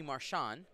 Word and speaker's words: Marchand: So, and this is against Anthony Marchand. The D is silent.